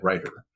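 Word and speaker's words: Reuter: I I believe I've been mispronouncing his name as Chad Rutder, but I believe it's Chad Ryder.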